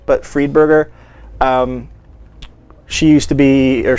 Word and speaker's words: Friedberger: Eleanor Friedberger Friedberger, it basically is spelled, but Friedberger.